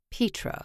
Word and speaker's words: Petra: you said it wrong it's not petra like your cat is a pet it's petra like pete moss petra she said correctly swinging